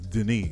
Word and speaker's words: Denis: The POCs, Denise, is that the French way? Is that the French way of saying it? Denise? French Canadian. He's a guy. Dennis. He's Denis. That's how it's spelled.